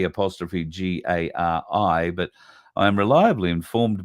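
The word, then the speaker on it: K'gari: some confirmation um but she seems to think that it's got to be pronounced Gary so if that is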